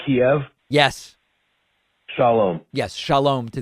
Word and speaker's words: Kiev: It's spelled Kiev and it's pronounced Kiev.